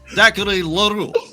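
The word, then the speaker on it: Zachary L'Heureux: Zachary Leroux. Привет. So you're all correct in your pronunciation.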